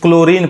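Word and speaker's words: chlorine: है अब यहां देखिए सी ए एल ओ आर आई एनई इसको क्लोरीन पढ़ेंगे अब इसमें आप एक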